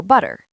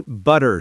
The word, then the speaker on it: butter: The T sounds like a soft D. This is called a flap T. It makes speech faster and smoother.